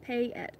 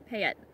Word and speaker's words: Payette: right then you were you were right first pay it okay pay it yeah oh that's good